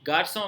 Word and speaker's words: garçon: मान लीजिए कि गार्सों में से दिए नहीं लगा हुआ होता, सिंपली सी लिखा हुआ होता, तो आप गार्कों पढ़ सकते थे ना।